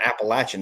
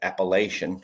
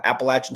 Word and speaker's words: Appalachian: So, the fact that you're saying the fact that you're saying Appalachin is actually good because most people say Appalachian, which is hilarious, but yeah. Appalachin State University.